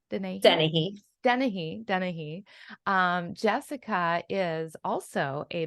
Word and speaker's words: Dennehy: Did I pronounce that correctly? Dennehy.